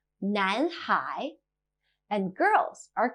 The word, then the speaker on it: 男: 男, male.